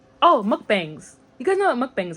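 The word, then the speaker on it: 먹방: Oh, mukbangs. You guys know what mukbangs are, right? That's how it is in English, but it's actually pronounced mukbang in Korean.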